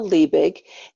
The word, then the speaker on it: Liebig: come and connect so my name is Lee big and it's spelt like lie big so in my past